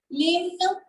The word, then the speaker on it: l'hymne: L'hymne national. Now, what is this called? L'hymne. If I remove this L, then it will be pronounced as hymne. Hymne. So it's l'hymne. H is silent everywhere in French.